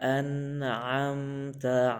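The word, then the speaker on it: أَنْعَمْتَ: Siratal ladzina an'amta alaihim. Nah, di sini ada a dan ain. Kebiasaannya kita membaca an'am. Ain, alif keduanya. Bukan alif, ain.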